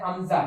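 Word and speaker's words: همزة: इस तरह हमजा के लिए आप ये समझे कि एच जो है वो साइलेंट है, तो ये लफ्ज है अमजा है, क्या लफ्ज है अमजा, हा नहीं पढ़ेंगे इसमें, तो हम इसके लिए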